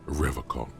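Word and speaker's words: Revachol: He pronounces Revocol with a hard K, unlike other people. Serious question time. This man is no innocent. No one is. I like to pronounce it the hard way, the old way, the Vespertine way.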